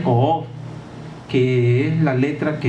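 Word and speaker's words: קוף: Ese es el título que se le confiere, y está influenciado por una letra que se pronuncia Ko'of, que es la letra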